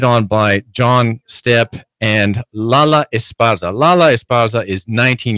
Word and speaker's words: Lala: Well, Lala, am I pronouncing your name correctly?